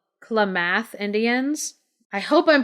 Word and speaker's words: Klamath: I think it's called Klamath Indians I hope I'm pronouncing their name right it's que la ma th Klamath so the Klamath Indians